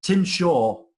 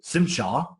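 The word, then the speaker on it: Tzim-Sha: And Tim Shaw, or Simshar, as he prefers it pronounced, was brilliant.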